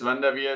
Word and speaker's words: Van Der Veer: Van Der Veer, is that about proper to pronounce?